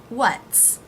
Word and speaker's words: what's: So the apostrophe S is pronounced as an S. What's. Now make sure you get the T for what in there. It's a stop. What's. Not just an S sound.